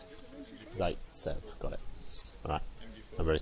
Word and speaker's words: Zaitsev: Can I get the exact pronunciation of this guy's surname? Zaitsev. Zaitsev, got it.